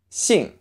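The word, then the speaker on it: 兴: mix between s and SH in English but again clench your mouth tongue forward it's a tighter sound see and the rest of the word you can think of as Yee and G so II mm see II mm sing and stay with a falling tone sing go sing three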